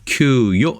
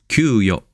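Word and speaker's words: 給与: 네, 그래서 발음은 규요 이렇게 되어 있네요. 규요 이렇게 급여 똑같고요.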